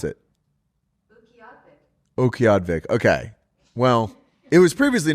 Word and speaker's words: Utqiagvik: This place is called Utqiagvik.